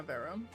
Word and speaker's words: Vera: Yeah, Vera.